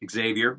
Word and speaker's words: Javier: Thanks, Javier. Unless you pronounce it Xavier, which is totally cool as well.